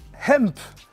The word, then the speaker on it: Hemp: Nike Larlo Hemp. C'est important de prononcer le H en américain.